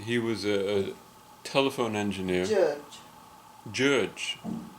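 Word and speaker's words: György: Judge, not Yuri. You'd have to go a little further into G-Y.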